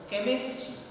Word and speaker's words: chemistry: Here CH, it has the sound K. See here combination of the two letters C and H. But it's called, generally we say so, but in the particular word it is pronounced as chemistry.